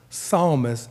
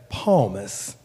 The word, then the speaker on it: psalmist: his frequent biblical references recently pronounced psalmist as palmas it was a gap